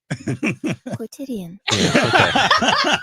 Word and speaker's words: quotidian: Wow. Quotidian. That's how you pronounce it.